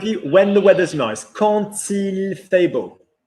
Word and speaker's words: quand: Quand il fait beau. So quand plus a vowel, quand il, quand elle, quand on is still when, but you pronounce it with a T.